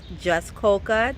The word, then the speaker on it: Jaskolka: Hi, today we are here with Jeff Jaskolka. Did I get that pronunciation correct?